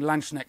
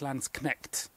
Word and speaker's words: Landsknecht: And sorry for that matter, I think I've been saying Landschneck, and I think it's Landsknecht. So sorry for my pronunciation. And I think Landschneck, for reference, means land snail, not land knight.